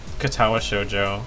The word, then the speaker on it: Katawa Shoujo: material this gun is this game is called katawa Shojo and it's made by people who have no